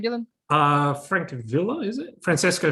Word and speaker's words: Francavilla: Francavilla, is it? Francesco Francavilla.